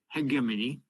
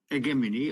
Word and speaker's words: hegemony: never read Gramsci, okay, hegemony. Hegemony, I'm pronouncing it closer to the Greek origin, rather than hegemony, which is more Italian, hegemony.